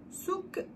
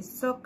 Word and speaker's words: souk: Souk à la française et soc à la marocaine.